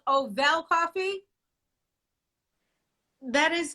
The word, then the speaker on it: Ovelle: me if i'm wrong sasha is it called ovel coffee that is correct okay i just want